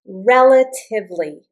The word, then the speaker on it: relatively: Relatively, relatively. Notice I don't pronounce it relatively, relatively. So the accent is on this I, relatively.